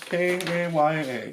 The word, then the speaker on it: Kaya: They're gonna be like, oh, you can't even pronounce the names. Yeah, Kaya. K-A-Y-A.